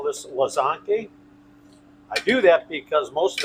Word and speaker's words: łazanki: w a z a h n k i łazanki. That's how you would pronounce it.